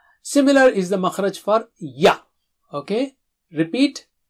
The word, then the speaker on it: يَ: Ya is like English yes.